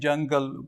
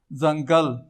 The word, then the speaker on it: ځنګل: جیم سره وایي، لکه داسې وایي جنګل، فارسي اردو غوندې جنګل وایي. داسې موږ یوسفزي یا نور پښتانه اکثر ځنګل. صحیح لیکنۍ بڼه به یې ځنګل وي.